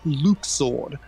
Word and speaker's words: Luxord: we're all pronouncing it luxord but apparently according to the kingdom hearts 3 translation team it's pronounced luke sword um but people just